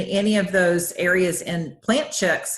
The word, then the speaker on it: Plant Chics: and it's plant chicks but it's spelt PLA and t CH I see people want to add the K and it's not we're plant chic you know plant chicks